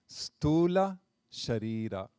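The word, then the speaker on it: sthūla śarīra: See, the U has a long line on top of it. That means it's elongated. It's an elongated vowel. English is horribly handicapped in expressing all these sounds, so we have to come up with little tricks like this. S with a slash on top is sha, not sa, or sha, like that. So like that, we pronounce it stula sharira.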